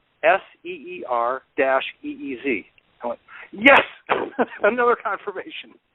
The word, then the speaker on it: Ceres: At the very beginning of the write-up on Wikipedia, it says, Ceres, Ceres, pronounced Seer-EEZ.